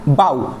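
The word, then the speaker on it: bough: শুরু করা যাক যেমন বাউ বাউ মানে হচ্ছে গাছের ডাল যেখানে জি এইচ টোটালি সাইলেন্ট অর্থাৎ অনুচ্চারিত তারপর ব্রাইট ব্রাইট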